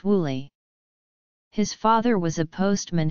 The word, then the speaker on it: Willie: Although he was known as Bill throughout his football career, his name in the family was Willie, pronounced Wooly.